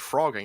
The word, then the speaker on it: phrogging: So I looked up the etymology of the word frogging, and it's actually pretty straightforward. It's the term used frog, F-R-O-G, from jumping from place to place. So that's how you get this frog. Now, why it's spelled with a PH, I don't know, but it's like fat.